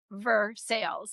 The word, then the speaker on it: Versailles: lunch at Ricardo in Versailles. Now, Versailles is pronounced Versales in Kentucky, not like the place in France.